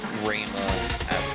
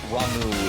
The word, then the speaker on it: Rama: And yeah, it's Rama. Ramu is one of the pronunciations that always bugs me.